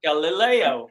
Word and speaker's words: Galileo: little okay Leo like no you just put Galileo Galileo oh oh g galoo g Leo two three different syllables no G G oh now I'm getting